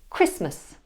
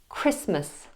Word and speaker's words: Christmas: example in the word Christmas Christmas notice how I don't pronounce the T at all Christmas or the word sandwich